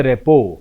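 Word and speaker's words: rapport: to make थम comfortable उच्चारण या दीजिए या आर्टी साइलेंट है इसे बोलते रेपो आगे बढ़ते हैं लेबल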